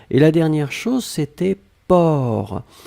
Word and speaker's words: porc: Alors souvenez-vous que porc, on ne prononce pas le C final. D'accord? Mais on doit quand même l'écrire. Donc vous écrivez P-O-R-C. D'accord? Donc porc, P-O-R-C, le C final n'est pas prononcé.